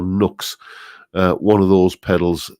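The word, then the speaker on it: NUX: about one of these new x i think it's pronounced new x it's spelled n-u-x i never quite know whether it's new x or nooks uh one of those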